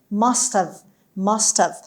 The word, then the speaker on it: must have: یعنی خیلی اچش تلفظ نمیشه، در واقع یه جورایی کوتاه میشه. میگیم must have.